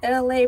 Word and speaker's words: ELAY: Essence Festival people, my name is LA, pronounced like LA like the city.